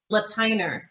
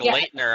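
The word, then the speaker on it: Lateiner: How do you pronounce it? Latiner. Oh, see, I've been wrong. It looks like Leitner almost.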